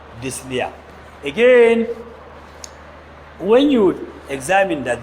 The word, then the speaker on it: dyspnea: The P is silent. Dyspnea. You call it dyspnea, not dyspnea.